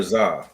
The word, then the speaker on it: Zah: Is it Z or Zah? It's Z. Even though Even though it's spelled Zah.